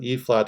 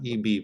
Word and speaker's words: E-flat: here as the e-flat alto saxophone okay so a flat that's how you pronounce that not EB but a flat alto sax if you're in